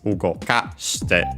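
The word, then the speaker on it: 動かして: While in the dictionary form, final form, in the present, of course, plain present, it would be on the second to last syllable, ugokasu, while here it's ugokashite.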